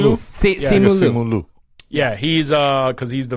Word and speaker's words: Simu Liu: Simu Simu Liu. Liu. Simu Liu. Simu Liu.